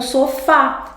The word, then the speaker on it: sofá: É o que acontece com o sofá. Sofá. É, a última sílaba é mais forte.